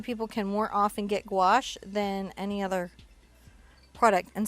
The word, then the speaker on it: gouache: Gouache, how it's spelled? No. Gauche.